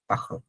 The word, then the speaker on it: parlent: বাট এটা sound হবে পাখল। ইএনটিটা উচ্চারণ করবেন না। ইট সাউন্ডস রিয়েলি উইয়ার্ড যে আসলে ইএনটি আছে, বাট এটা আমরা সাউন্ডই করবো না, বাট ইটস ট্রু।